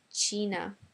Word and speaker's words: Cina: China is pronounced Cina.